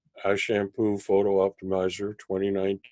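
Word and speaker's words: Ashampoo: I'm told it's pronounced a shampoo just like it's written it's actually a German company so I'd have no idea how the name came about but this is an app called a shampoo photo optimizer 20-19 it's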